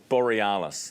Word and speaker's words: Borealis: Borealis.